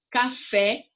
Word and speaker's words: café: Café, o fé é a sílaba mais forte.